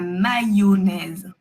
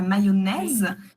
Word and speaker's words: mayonnaise: Alors lui il est un peu technique mais le y il se prononce yo. La mayonnaise. Mayonnais. Mayonnais. Oui, la mayonnaise.